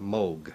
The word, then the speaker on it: Moog: It's pronounced Moog.